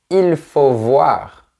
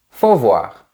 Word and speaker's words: faut voir: Remarque aussi que généralement on ne prononce pas le sujet il. On ne dit pas il faut voir mais juste faut voir.